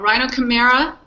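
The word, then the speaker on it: Rhinochimaera: we have a rhino I'm gonna say it wrong Rhino Cima is that correct yeah y that's right and of course we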